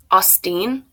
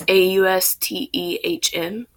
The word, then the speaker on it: Austin: Austin. It's Austehn.